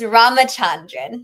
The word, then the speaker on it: Ramachandran: Also, it's it's Ramachandrin. Ramachandrin. Thank you, Rama. I always say it. It's just pronounced as it's in the mirror, folks.